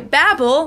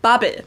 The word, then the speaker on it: Babbel: In English-speaking countries, they go by Babbel, like I just said it, whereas in Germany, we actually say Babbel.